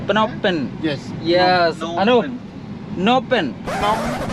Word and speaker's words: Phnom Penh: What is the correct pronunciation? Phnom or Phnom Penh? Eh? Phnom Penh. Phnom Penh.